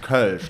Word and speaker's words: Kölsch: Because it's pronounced Kölsch, like it has the O with the two dots on top, the umlaut, and it took me